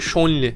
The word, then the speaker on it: Zhongli: Eğer ki Çince okuyorsanız oradaki ZH'yi Ç diye biraz böyle Ç ile Ş arası bir harf okuyorsunuz ama hani Çince ya da Japonca'ya çok hakim olmadığım için size dil bilgisini öğretecek değilim ama hani Zhongli değil. Z ile okumuyorsunuz. Ben Shonli dediğimde abi o Ş değil Z falan diye söyleyenler var. Yani o Z değil ondan emin olun.